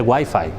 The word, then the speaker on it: Wi-Fi: Wi-Fi no se dice Wi-Fi, se dice Wi-Fi, ¿vale?